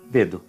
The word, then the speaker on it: dedo: Um exemplo aqui que vocês vão encontrar que não se pronunciam com di é o início da palavra. Exemplo, dedo, ok?